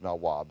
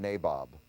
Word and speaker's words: Nawab: Now, the British couldn't pronounce Nawab, so they made it Nabob.